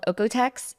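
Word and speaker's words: OEKO-TEX: um they can also look for something called otex it's German so it's spelled kind of weird um o e k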